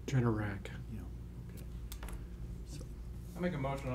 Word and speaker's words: Generac: How do you pronounce it? Generac? Generac.